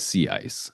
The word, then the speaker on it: CICE: very importantly that uh we refer to the tool affectionately within the lab as as sea ice. So that is how you say the acronym officially.